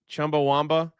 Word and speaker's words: Chumbawamba: Chumbawamba.